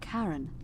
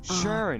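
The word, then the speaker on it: Charon: it's just as you described it only your pronunciation is a little off the name you heard wasn't karen it was c h a sharing oh is it sharing as in caron the ferryman of the dead who in exchange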